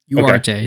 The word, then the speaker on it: Ugarte: responsible for no G oh Ugarte sorry sorry I just found out that pronunciation you're right garnacho is his rashford's